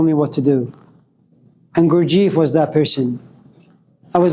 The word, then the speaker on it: Gurdjieff: I butchered it, but Gurdjieff.